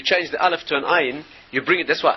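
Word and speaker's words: עין: Ayin is pronounced. Anybody who speaks Hebrew correctly, you can hear the ayin. It's one of the guttural letters. It's not a silent letter.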